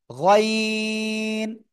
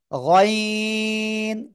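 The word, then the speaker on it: غين: গইন। গইন, তিন আলিফ টেনে পড়তে হবে, ঠিক আছে?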